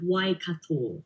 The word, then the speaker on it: Waikato: at the University of Waikato. Am I saying that right? Almost. That's a Maori word from New Zealand. So, University of Waikato is how we pronounce it.